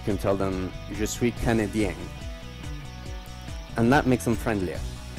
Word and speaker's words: Canadien: Je suis Canadian. Canadien, with the accent towards the end.